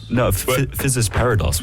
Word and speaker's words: Physis Parados: Physis Parados, which is the compilation album that SubCulture made. Did I pronounce that correctly? Physis Parados.